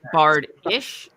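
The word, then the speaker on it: bardiche: No, bardish. Yes. It's like, it's pretty much a blade on a pole. Yes, I've bardish, yes, I've heard of them. I had never heard it pronounced. Oh, it sounds like that.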